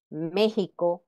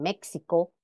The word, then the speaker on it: México: o Mejía siendo la la pronunciación correcta de esta X en Esas voces como J Aunque todavía hay quienes pronuncian los ejemplos dados con el fonema ex pueden escuchar que dicen México o Texas Okay o